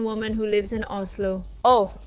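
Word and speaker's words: Å: It's not called A, it's called O. Even though it's written with an A, but since it has the little circle on top, it's pronounced O, and it's the last letter of the alphabet.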